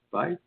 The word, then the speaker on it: Fife: Is his name Fife? F-I-F-E? Is that how you pronounce it? Fife? Fife. Oh, yeah.